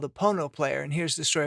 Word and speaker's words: Pono: recording sessions the name pono which rhymes with phono is actually a hawaiian